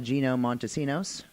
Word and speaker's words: Gino Montesinos: lately we are here with our guest today Gino Montesinos hey did I say it right perfect awesome